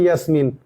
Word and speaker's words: ইয়াসমিন: তাই মনির কি করে, ইয়াসিমকে কি করে, এটা আসলে উচ্চারণ হওয়া ছিল ইয়াসমিন।